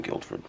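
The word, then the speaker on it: Guildford: obvious tale is that he just pronounced the D in Guilford the actual dennin of Guilford and most of England in fact don't even recognize the letter d as part of the English alphabet I assumed you were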